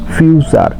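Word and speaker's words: future: শব্দের শেষে টি এর পরে ইউ থাকলে এর উচ্চারণ চ এর মত হয়। যেমন লেকচার টি ইউ আর ইচ্চারণ হবে চার ফিউচার এফ ইউ টি ইউ আর ইটি ইউ আরই টি এর পরে ইউ আছে এইজন্য চ উচ্চারিত হচ্ছে ফিউচার।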